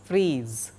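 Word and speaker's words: frieze: c fretted d grooved and freeze pronounced as freeze niche ornamental strip top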